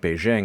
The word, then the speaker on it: Beijing: Some like Beijing instead of Beijing are considered standard.